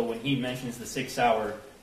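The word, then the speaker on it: Sauer: he mentions the six sour he mispronounced sour as Sawyer which if you purchased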